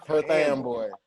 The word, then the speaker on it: Perth Amboy: but mostly hispanics and dominicans dominicans and yeah perth amboy but i did live on the white side